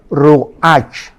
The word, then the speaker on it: ruach: La palabra hebrea para espíritu es ruach, pero la CH en hebreo se pronuncia como J, es ruach, como J, y murió, y fue